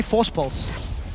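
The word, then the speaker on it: Voorspoels: So here's the trick. For anyone that wants to know how to pronounce this name, just say Force Pulse. Say it like you would say Kassadin with a bit of a lisp, with his E. So it's Mitch, Crepo, Force Pulse. Force Pulse.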